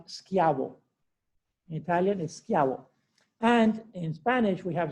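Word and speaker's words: Schiavo: like a k so really his name is pronounced skiavo and in spanish we have a certain advantage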